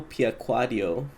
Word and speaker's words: Piacquadio: And I'm also here with Mario Piaquaddio.